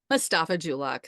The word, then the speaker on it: Mustafa-Julock: Mustafa-Julock.